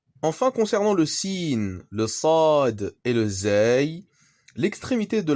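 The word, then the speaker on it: صاد: Mais c'est plus sur le sad qu'il va falloir s'appliquer. Cette lettre est souvent mal prononcée et ressemble plus à un sin un peu grave.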